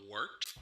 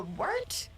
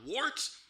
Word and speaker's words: Wort: The wort? Yeah, okay, I'll do that again. This is the Wort on Govs Radio. It is the Wort. Not warts, not forts, not short.